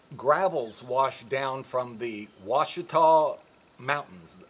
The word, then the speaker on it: Ouachita: washed down from the ouachita mountains ouachita is spelled o-u-i-c-h-a it's an indian word the washikaw mountains about 20 to 30